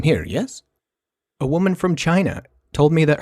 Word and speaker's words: Qi: yes a woman from China told me that her last name was pronounced Chi even though it's spelled Qi which didn't make any